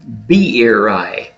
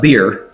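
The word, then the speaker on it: Beeri: father was a gentleman named b eri it's not beer but b b-e-r it's three syllables so b eri was his father chapter one tells us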